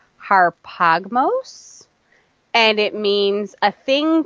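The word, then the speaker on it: ἁρπαγμός: The Greek Hebrew definition of Strong's number 725 is pronounced harpagmos, and it means a thing to be seized upon or to be held fast, retained.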